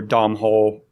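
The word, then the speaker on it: Domhnall: but anyway so Donald I always pronounce his name are it's like Donald or Dom hole Gleeson but anyways there was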